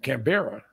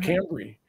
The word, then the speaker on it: Canberra: nowhere capital of australia she mispronounced the name cam canberra you call it cambrie and so not to